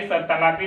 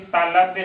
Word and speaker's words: तालव्य: देखते होंगे बच्चों बोल देते हैं सभी तालाबी, तालाबी नहीं, तालव्य शुद्ध वर्ण, शुद्ध उच्चारण उसका तालव्य होता है, क्योंकि तालु से उसका उच्चारण होता है।